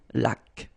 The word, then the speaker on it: laque: Remember the rule, when you get this QU, well, U is not pronounced, so you get k, like that. Une laque.